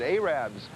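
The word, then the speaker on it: Arabbers: farms of sorts these people are known as arabs that's the way they pronounce it arabs and what they do is they sell fresh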